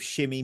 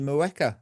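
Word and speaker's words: Mheuka: Why did Maresca not give Shimmy more minutes? And that would be Shimmy Mueka, as I found out pronouncing today. I think he shit himself. Not Shim.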